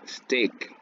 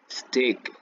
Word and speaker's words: stick: completa desde este y el sonido es corto steak no es éste no stick y aquí tenemos el